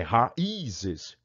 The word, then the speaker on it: raízes: Se fosse ditongo, raízes. Olha quantas raízes crescendo ali no chão. Não, raízes. Vamos fazer um chá de raízes. Não, não tem nada de raízes. É raízes. Raízes. 3 sílabas. Raízes. Tá? Então, o I está sozinho. Ele tem uma vogal na sílaba anterior aqui. É um ex ditongo. Por isso, é um hiato.